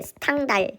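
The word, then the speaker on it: Stendhal: 원래는 영어 발음으로 stand 이렇게 되어 있지만 우리나라 말로 하면은 스탕달. 요게 왜 그렇게 되냐면이 스탠이라는게 프랑스의 소설가거든요. 그래서 그 사람을 우리가 스탕달이라고 불렀어요. 그런데 영어식으로 발음하다 보니까 stand up 이렇게 발음은 되지만 원래 우리나라에서는 스탕달이라고 부릅니다.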